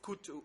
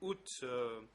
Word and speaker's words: Ut: name of Kut Ut, in French it's spelled out K-U-O-T, Kut. Maybe in English you say U-T-H, Kut, Kut. Answer. I do not know this person. I do not know the person by the name Kut. Pour être sûr qu'il n'y ait pas de... To be sure that there are no problems, I will ask my colleague Kong Samon to pronounce the name correctly. Counsel, thank you. The name is Ut.